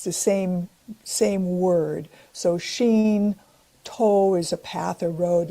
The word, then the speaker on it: Shinto: uh beings, the the deities uh can be pronounced either sheen or kami. It's the same same word. So sheen toe is a path or road.